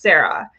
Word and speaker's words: CERA: The first is the COVID Emergency Rental Assistance, which is abbreviated to CERA, pronounced SARA.